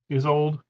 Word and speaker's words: Isolde: How would you pronounce this name? Isolde? Isolde, yeah.